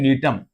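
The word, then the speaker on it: Gnetum: है और वो है टम जी साइलेंट ध्यान रखिएगा टम इडा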